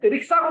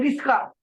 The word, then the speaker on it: रिक्शा: भला कुछ लोग रिक्शा को क्या बोलते हैं, रिस्का हाँ है, है ना। रिस्का।